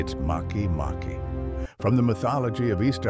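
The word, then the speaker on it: Makemake: Also, its name isn't pronounced make. It's Maki Maki from the mythology of Easter Island's native people.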